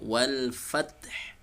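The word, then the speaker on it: وَالْفَتْح: Maka cara membacanya huruf ha tetap terdengar ya. Maka bacanya wal fath ya.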